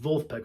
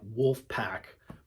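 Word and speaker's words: Vulfpeck: Wolfpack, spelled with a V, like Wolfpack, but it's German, Wolfpack. They're fucking great.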